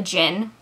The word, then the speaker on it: Djinn: summoning a Jinni a Djinn a Djinn I've heard it pronounced both ways we're gonna go with Djinn so she's calling someone